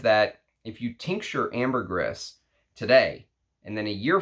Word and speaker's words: ambergris: that it is ambergris it's not ambergris you're supposed to actually say the S at the end so that's why I say it like that some people come in and they say oh you're saying it wrong but I used to say ambergris and then the guy who did who's an ambergris Hunter said no actually it actually is ambergris um so according to